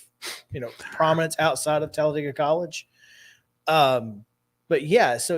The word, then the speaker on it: Talladega: that's uh that is the actual correct pronunciation is like dig a hole Talladega but you know it's